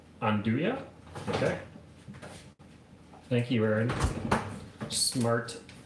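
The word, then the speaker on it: 'nduja: now on oh no naduja is pronounced on do ya on do ya okay thank you aaron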